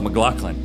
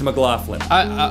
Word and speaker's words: McLaughlin: I just call myself McLaughlin. I mispronounced my own last name because I'm thinking of myself as a writer. It's McLaughlin.